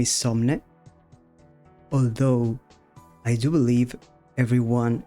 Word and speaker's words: Somne: And yeah, well, first, my name is Somn, although I do believe everyone is going to call me Somni.